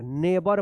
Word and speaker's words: neighbor: और यहां पे GH जो है ना साइलेंट रहेगा, BOR, नेबर पढ़ेंगे, नेबर।